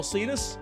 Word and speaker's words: Alsides: And I'm Alsides, rhymes with Adidas.